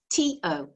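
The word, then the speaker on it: と: perfect for this situation the word for and is to o it's a bit like toe but it's shorter all right and that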